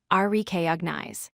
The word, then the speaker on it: recognize: It has 3 syllables, recognize. A common error is stressing the wrong syllable. Place stress on the first syllable, recognize.